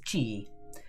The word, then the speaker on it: Qi: The inner energy or life force used in Kung Fu is Qi. It's spelt QI, but you say it as Qi.